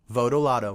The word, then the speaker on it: Votolato: So after this, let's all just say Votolato, okay? Votolato. Rocky Votolato. I love Rocky Votolato. I love him so much I know how to correctly pronounce his name.